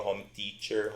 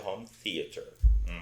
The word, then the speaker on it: home theater: Então automaticamente home e theater tem aquele TH soprado do thanks, do three. Então o pessoal fala home teacher, home teacher. Então, ou seja, a pronúncia correta é home theater.